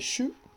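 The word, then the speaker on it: 手: La chinoise c'est shu, shu, avec un u, shu court, hein. On avait vu qu'on allongeait, on pouvait allonger shu, mais là c'est shu. Et la lecture japonaise c'est te, te ou ta.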